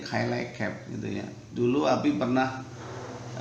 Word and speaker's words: Cilacap: Walaupun orang asing mungkin nyebutnya Semarang, seperti Cilacap kan bacanya sebagian mengatakan Cilacap. Di Cilacap itu bacanya Cilacap gitu ya.